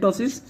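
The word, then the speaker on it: ptosis: Is called the moderate टॉसिस. Okay, moderate और यू कैन say sorry that is called the severe टॉसिस. Okay, severe टॉसिस. तो piece में silent रहता है.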